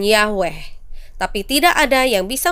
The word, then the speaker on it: Yahweh: menggunakan konsonan yhwh Hai dari huruf-huruf inilah para ahli Alkitab modern mendapatkan nama Yahweh sebagai pengucapan yang paling mungkin Sayangnya tidak ada yang tahu apakah ini pengucapan yang benar atau tidak bahasa Ibrani kuno tidak memiliki vokal dan adalah tabu untuk mengucapkan nama Ilahi dengan demikian pengucapan yhwh yang sebenarnya perlahan-lahan hilang Kebanyakan orang percaya bahwa itu diucapkan Yahweh tapi tidak ada yang